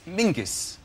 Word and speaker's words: Menzies: His name is Mingus. Mingus, yes. Scots. Yeah, Mingus. Yeah, but it's pronounced...